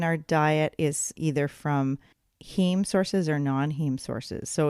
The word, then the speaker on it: heme: iron so there's the heme iron which is from meat or animal sources and then the non-heme iron which is from plant sources right and that's spelled h-e-m-e-h-e-m-e that's right steam right okay yeah and